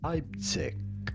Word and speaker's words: Leipzig: We are in state of it is pronounced Leipzig.